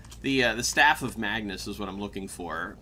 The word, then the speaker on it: Magnus: Oh god, I can't remember how to pronounce it. Magnus. Magnus. That was it.